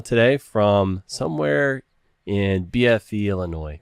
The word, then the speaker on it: Illinois: I've got one Nick Arellano today from somewhere in BFE, Illinois, correct? Somewhere in Illinois. Or Illinois. That's how you guys Yeah, we pronounce have Hard S.